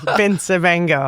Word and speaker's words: Bencivengo: It's like Bencivengo, right? Oh, yeah, So, that's a good way to tell somebody, yeah, Vincent Van Gogh, just make it rhyme with that.